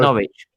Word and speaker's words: Norwich: Oh, you guys don't pronounce the W there. No, it's Norwich.